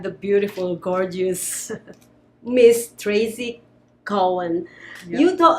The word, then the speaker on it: Cowan: So my last name is not actually Cowan, it's Cowan. So Cowan. Think of a cow and then Ann.